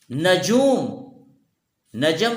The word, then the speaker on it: نجوم: موجود ہے۔ جیسے نجم، نجوم، نجم ستارے کو کہتے ہیں، نجوم اس کی جمع ہے، عربی میں استعمال کرتے ہیں، نجم کی جمع نجوم۔ تو عربی میں نجوم اصل تلفظ نجومن، نجومن ہے، تو جو کہ عربی